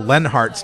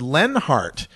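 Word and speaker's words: Leonhart: me realizing that Michelle lenhart's name is pronounced Lenhart it's Lenhart as if the O is silent like her opinion on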